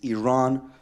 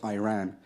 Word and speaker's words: Iran: the Iranian people but you're pronouncing our country's name wrong our country is named Iran not Iran please once and for all